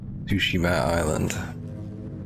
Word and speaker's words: Tsushima: Tsushima Island.